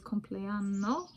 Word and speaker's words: Compleanno: The word of the day is Compleanno, which I pronounce slowly to differentiate from cumpleaños or cumpleaños in Spanish.